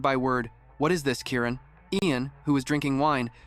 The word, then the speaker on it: Kieran: You have to pronounce it with the stress on the first syllable and say the rest more gently. After hearing him, she said his name again. Kieran.